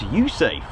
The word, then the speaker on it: USAFE: Air Force in Europe base which is happily pronounced as usafe I do like that by the way so